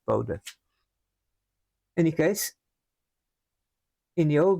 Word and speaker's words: Bode: E in English, but in Dutch is B O D A and it is pronounced Bodha.